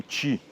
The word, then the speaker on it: Chi: Um desses erros, que é muito comum, é a palavra CHI escreve C-H-I. Popularmente também é pronunciado como "Tchi".